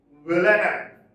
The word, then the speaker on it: villanelle: Now, the last one I think in our list, though it is written Villanelle, it is not pronounced that way. It is not pronounced that way. It is pronounced Villanelle. Villanelle. Stress is on the second syllable.